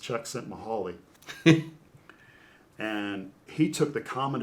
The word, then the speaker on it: Csikszentmihalyi: The author I can't spell, but it's pronounced Csikszentmihalyi.